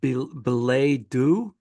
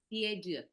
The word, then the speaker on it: billet doux: And then in April, excuse me if I say it wrong, Belay Do? Belay Do? Billet doux.